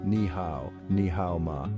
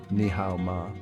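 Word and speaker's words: 你好吗: Ni hao ma, ni hao ma. How are you? Pronunciation tip: ni hao ma is pronounced with a rising tone at the end, making it a question.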